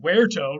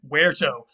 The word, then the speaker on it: verto: But then the Latin root verto, remember V's are pronounced as W's in Latin, but now we pronounce them as V's, of course.